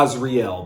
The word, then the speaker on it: Asriel: sneaker a lot of different things the eyes real the Isreal is real whatever you want to call it today we're gonna call it the Azrael that's what I know the name to be pronounced so this ez is